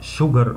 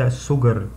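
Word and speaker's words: sugar: زي كلمة water يعني مية، ميلك يعني لبن، شوجر يعني سكر، الاس دي بتتنطق زي الشين عشان هي ليها قاعدة مش عايز اقولها دلوقتي، لكن دي بتتنطق شوجر وليس سوجر.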